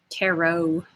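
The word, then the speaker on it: tarot: doing the good turret taro that's okay it does look like turret but it doesn't rhyme with parrot so um so yeah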